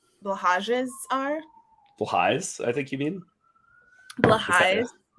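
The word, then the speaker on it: Blåhaj: was people are asking where all of your blahages are. Blahais, I think you mean? Blahais. Is that how it's supposed to be pronounced?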